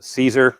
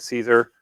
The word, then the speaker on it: Siser: company at 12 o'clock the uh caesar finally said it right cesar um and the caesar